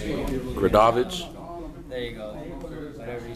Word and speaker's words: Gradovich: I can't even pronounce his last name. I'm not even. Gradovich.